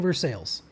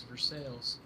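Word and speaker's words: Versailles: A lot of people saying vers sales. All right. Yeah. Ryan, come on. It's for sales.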